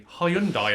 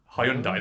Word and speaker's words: Hyundai: Hyundai, as I always used to call it, which is actually Hyundai, the car company. Yeah. God, I've mispronounced it.